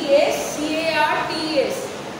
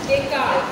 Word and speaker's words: Descartes: ডেকার্টের spelling হচ্ছে DESCARTES, ডেসকার্টেস, but it's pronounced as Descartes. S is silent.